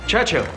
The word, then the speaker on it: Churchill: Churchill, that's how you say it, all together like that. I'd heard church and hill, but couldn't find either.